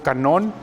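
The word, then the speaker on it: κανών: El canon o canon es una palabra que viene del griego canón, ¿sí? Como está escrita aquí, se fijan, se escribe igual, nada más que con K en lugar de con C. En español es con C, en griego es con K, es canón, que significa caña.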